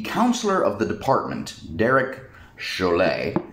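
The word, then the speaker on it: Chollet: Derek Chalet. Chalet. Chalet. Like the ski cabin, or No, that would be a C-H-A-L-E-T. This is C-H-O-L-L-E-T. So, officially, the counselor of the department, Derek Chalet.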